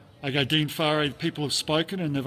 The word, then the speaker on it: Whare: They all get it wrong, except the commentators in New Zealand. So it's, pronounced Whare.